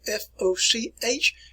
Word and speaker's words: Foch: So if you see the name F-O-C-H, it is pronounced Foch, like F-O-S-H here.